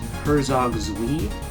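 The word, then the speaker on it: Herzog Zwei: Wing Musha the Thunder Force games Shining Force Herzog zi that's how you pronounce it Altered Beast and space Harrier um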